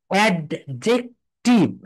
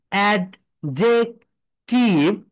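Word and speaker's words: adjective: এর পরে যে আসে, যদি কোনো ওয়ার্ডের ভিতরে ডি এর পরে যে আসে, তাহলে ডিটা সাইলেন্ট হয়ে যায়, ডি এর উচ্চারণ হয় না।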